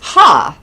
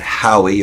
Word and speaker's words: Hawe: I think And it's not how. It's not Howie or It's- Hawe. Ha. Ha. I think I have a hard time with it because I have a hard time with W's because I'm from New York.